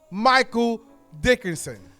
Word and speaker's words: Michael Dickinson: My guest today is the one and only Michael Dickinson.